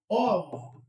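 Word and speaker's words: of: ऑफ rules, इसका pronunciation क्या है? ओ एफ। क्या है? ऑफ।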